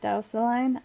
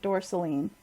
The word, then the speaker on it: Dorsaline: You pronounce it Dausaline? I pronounce it Dorsaline because it sounds more like gasoline, which is basically what it is.